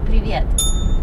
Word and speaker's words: привет: So, привет, is that one or two syllables? It's two syllables.